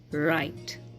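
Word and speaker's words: write: work week वाइप एक् W silent कहां पर होता है जब डब्लू के बाद आर आ रहा हो तब डब्लू साइलेंट हो जाता है जैसे कि रंग रिस्ट रप एंड राइट बाकी के वर्ड्स में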